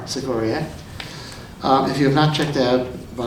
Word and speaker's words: Sikoryak: It's pronounced Sikoryak.